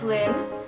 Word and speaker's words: Lyn: was finally like Leen how do you say your name and she was like Lynn and I was like